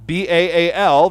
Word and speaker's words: Baal: of his kids was a god named Baal, B-A-A-L, that we in English tend to pronounce Baal.